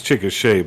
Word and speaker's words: Chickasha: got a place in anadarko over there it's chickasha by the way you're not indian so okay